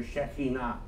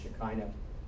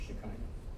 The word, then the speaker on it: Shekhinah: you might be familiar, Shekhinah, often pronounced Shekinah or mispronounced Shekinah.